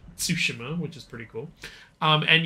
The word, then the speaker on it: Tsushima: It's pronounced Tsushima, which is pretty cool.